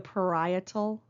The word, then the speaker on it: parietal: as the parietal lobe the parietal lobe is how you pronounce that next up is the